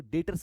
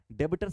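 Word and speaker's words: debtors: तो बोलेंगे क्या डेटर्स सर बी साइलेंट होता है ठीक है जैसे नॉलेज में के साइलेंट होता है ना तो उसी तरह यहां पर बी साइलेंट होगा हम लोग डेटर्स बोलेंगे डेबिटर नहीं बोलने वाले हैं ठीक है डेटर्स अब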